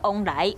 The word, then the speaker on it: 旺來: 凤梨的台语读作往来，有往来意思。